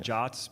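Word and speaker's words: JWT: They're called JOTs, but that's not actually possible to pronunciate a W as an O, but I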